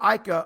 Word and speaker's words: Ika: make it happen siaka aika or ika is how you say his name apu this nickname the